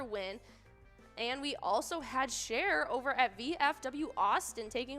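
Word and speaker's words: Cher: Tacoma yeah another win and we also had share over at VFW Austin taking home that $23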